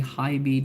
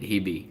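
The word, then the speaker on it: HiBy: Please tell us what your thoughts about the Hybe Darwin." I'm like, "Oh, I didn't know it's pronounced as Hybe. That's interesting." Because prior to that, I'd been calling it Hibi, like Hibi.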